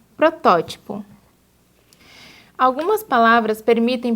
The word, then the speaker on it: protótipo: Prototipo, quando o correto é protótipo.